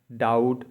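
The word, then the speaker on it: doubt: यू बी टी य बी को नहीं पढ़ना है डाउट मतलब संदे डी ई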